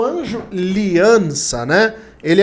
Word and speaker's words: Liianza: coisa e bom contatei liança né eu falo liança mas é liança né com dois is na hora de pronunciar o nome dele mas fala aliança que